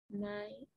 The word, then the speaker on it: Mai: A et la I, ¿cómo se va a pronunciar estos dos juntitos? Se va a pronunciar como una E.